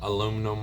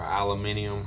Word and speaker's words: aluminium: When you're near the beach like this, yeah, you can get some aluminum or aluminium, however you want to pronounce it.